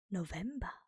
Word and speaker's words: November: Second to last, we have November, which is also spelled the same way but pronounced differently. And November in German is November.